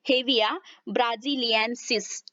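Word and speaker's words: Hevea brasiliensis: The botanical name of this tree is, देखिए इसका जो वनस्पति शास्त्रीय नाम है दैट इज हेविया ब्राजिलियंस, ठीक है, हेविया ब्राजिलियंसिस, इस तरह से इसको प्रोनाउंस किया जाता है।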